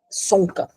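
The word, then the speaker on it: Csonka: aqui tá aqui Margarete sonca É acho que não pronuncia o c né é C sonca mas acho que é sonca que pronuncia é o verdadeiro nome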